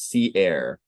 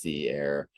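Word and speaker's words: Sea Aire: Community again it is Sea Air so it's uh spelled s-e-a-i-r-e and it's pronounced Sea Air um I'm glad you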